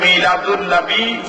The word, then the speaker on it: মিলাদুন্নবি: শব্দের অর্থ জীবন বৃত্তান্ত এই এই দুইটা শব্দের সাথে যদি আনবি শব্দটা যোগ হয় তখন উচ্চারণ হবে মিলাদুন্নবী সিরাতুন্নবী তখন অর্থ দাঁড়াবে মিলাদুন্নবী অর্থ